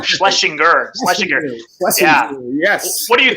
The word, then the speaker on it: Schlesinger: I always get that name wrong. Schlesinger.